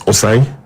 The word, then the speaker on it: Osei: So once he joins, it's Osei, and that's the pronunciation.